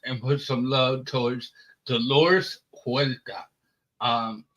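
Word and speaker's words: Huerta: to uh emphasize and put some love towards doresa um it's h u e r t AA that's how you pronounce it so dores uh worked with San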